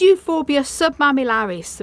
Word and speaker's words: Euphorbia submamillaris: And this is Euphorbia submamillaris, variety Fursodophii. That's how you pronounce it.